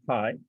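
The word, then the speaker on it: HAI: artificial intelligence of condensed h a i pronounced pie john is the resident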